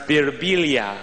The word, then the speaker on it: Birbiglia: Sometimes people come up to me, they'll be like, in Italy it's pronounced Birbiglia.